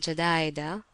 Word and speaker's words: Jadaidah: line of villages called Jadaidah. I write this word as my companions pronounced it.